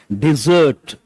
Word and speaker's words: dessert: How do you pronounce this? Dessert. E sound.